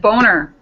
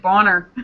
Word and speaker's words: Bonner: I thought it was Boner. It's two N's, but yeah, let's go with that. That's how we say it over here. So. No, we say it Bonner. Rhymes with donor.